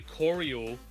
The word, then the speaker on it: choreo: Apparently, choreo is the pronunciation because that is a word, choreography. My fat ass, I'll just say, saw Oreo and just went with that one. I was like, yeah, Oreo with a ch, obviously, instead of the word it is, choreo.